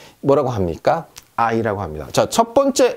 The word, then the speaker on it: hay: 자 보시죠 i 어이가 하이 아니죠 아이 입니다 왜냐하면 맨 앞에 있는 있을 때는 이게 h 바른 힙 발음이 없어져 버리죠 를 발음할 때 배웠죠